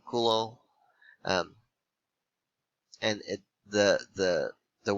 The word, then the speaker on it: Coulomb: was hulo um and i say like that because he was french so don't say column or you know anything weird like that you would pronounce the name kulo um and it the the